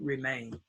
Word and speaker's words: remain: And it's the two vowel rule, and the first vowel is A. So it's long A, to remain.